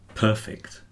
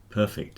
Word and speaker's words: perfect: But sometimes it can be like if you get perfect. Perfect is an adjective. But perfect is the verb.